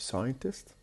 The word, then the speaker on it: scientist: So we have scientist, the stress on the beginning.